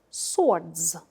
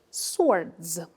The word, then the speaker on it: sword: island this word is swords swords as sword match above a sword w is silent here a sword repeat the